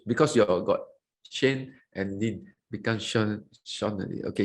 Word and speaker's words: Shane: I can see a lot of Q&A questions as well from Sean. Shane, I always pronounce because you got Shane and Lynn become Sean.